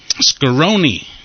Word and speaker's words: Scaroni: Ohio patrolman - yes Scaroni rhymes with macaroni and also Bologna and where you